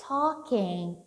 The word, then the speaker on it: talking: What is she talking about? What's she talking about? Pronúncia não é talking, não é talking. Ignora esse som do L, tudo bem?